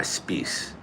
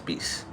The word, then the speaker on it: Speiss: Oh, so it's actually pronounced uh space s p e i ss. Spece space like grease.